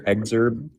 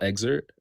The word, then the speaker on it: excerpt: In your exerb, your journal. You want to hear the whole excerpt?